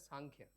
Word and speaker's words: Samkhya: Samkhya, it is pronounced as Samkhya.